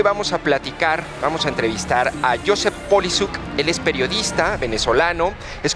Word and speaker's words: Poliszuk: Te agradezco mucho, Josep Polisuk, ¿verdad? Así se pronuncia tu apellido.